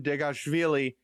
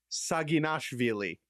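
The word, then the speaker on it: Saginashvili: No, I'm not talking about Georgian arm wrestler Leavon Deashilli. I'm talking about Trick Scubble. Unbelievable transition introduction to this topic. I pronounced his last name wrong. I I I'd like a doover. Leavon Saginveilei, nicknamed the Georgian Hulk,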